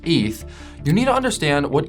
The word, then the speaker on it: ETH: Well, before you could decide on whether you want to invest in Bitcoin's BTC or Ethereum's ETH, pronounced ETH, you need to understand what each one actually is because both were built for fundamentally different reasons.